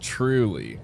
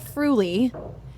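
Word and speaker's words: Früli: And I I think it's pronounced truly. No, it's Fru.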